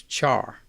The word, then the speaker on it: char: values whose type is char by the way i pronounce CH AR char but care is also an equally acceptable pronunciation since it's short for character and speaking of putting